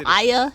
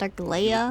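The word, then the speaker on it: Aglaea: Aglaya, not Aglaya. Ignoring what she said? None of these names are pronounced how I thought they were.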